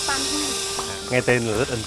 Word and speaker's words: Pànhòu: Và khi mà người nước ngoài đến đây để giám đốc em thì không quen theo nói theo tiếng địa phương mà anh phát âm thành cái Banhu.